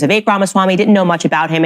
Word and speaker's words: Vivek Ramaswamy: I was saying Vivek. His name is Vivek Ramaswamy.